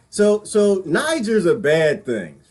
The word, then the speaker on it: Niger: not pronouncing that Nick in this year I pronounce it Niger I like Niger little buddy nobody in Niger